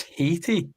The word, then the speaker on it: Haiti: Did we Why does no one pronounce that correctly, guys? It's Haiti.